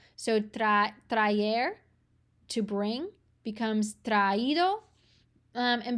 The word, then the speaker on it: traído: And because we've got two vowels back to back, they want to make sure that you're pronouncing both of these so that you don't say traído, it's traído. So you have to put the accent.